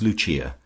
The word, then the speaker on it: Lucia: of her subjects as Luchia, pronounced, of course, in the Italian mode luchia, the wife of Lucas.